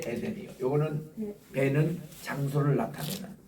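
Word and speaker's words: עֵדֶן: 이 명사는 이게 쉐골 이게 나오든가 아니면은 파삭 쉐골이 나오든가 콜롬 쉐골이 나오는 이런 발음들을 앞에 액센트가 있습니다.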